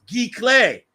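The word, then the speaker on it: giclée: expensive but you could get super cheat it's pronounced G clay as endless says uh uh over here on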